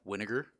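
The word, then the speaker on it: Wynegar: on his glove butch Winokur rhymes with vinegar Tom Hume with the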